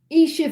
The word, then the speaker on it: Aisha: Nana says, Aisha, as in Isha for... Oh, okay. Isha for pronunciation.